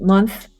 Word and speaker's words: months: on immune cells so make sure that s at the end okay you're pronouncing that okay so eight months ago eight months months months months months months yes that's kind